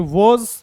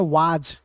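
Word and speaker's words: was: से इसको ऐसे देर वाज अ वाज भी कुछ लोग इसको बोलते हैं लेकिन आप कोई दिक्कत नहीं ठीक है आप भी सुने होंगे वाज वाज अब इसको वज बोलिए तो ज्यादा अच्छा है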